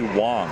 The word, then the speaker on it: Wang: want to correct you most people do say Wang but it's actually Wang it's pronounced like it oh it's like a soft